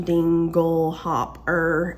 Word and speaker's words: dinglehopper: it says dinglehopper um the uh pronunciation dingle hop er and it's a noun